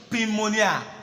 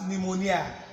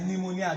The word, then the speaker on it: pneumonia: it's principal now this world many people say pin Manya pneumonia but the thing is actually silence this piece not pronounced is not pronounced this piece not pronounced